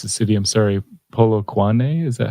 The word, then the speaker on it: Polokwane: I don't know how to pronounce the city. I'm sorry. Polokwane, is that how you say it? Polokwane, yeah.